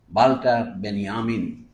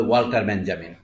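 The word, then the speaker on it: Walter Benjamin: অনেকের নাম অনেকের নেই একজন ছিল বাল্টার বেনিয়ামিন ইংরেজিতে বলে ওয়াল্টার বেঞ্জামিন আরেকজন নাম গেলুকাস উনি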